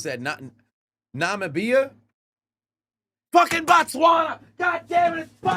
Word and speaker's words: Namibia: Namibia. Namibia. That's how it's pronounced. Namibia.